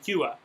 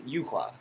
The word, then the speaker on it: Yuhua: They never pronounce her name. They say No. Yuha. They don't even say Yuha. They say Yua. Her name Yuhua.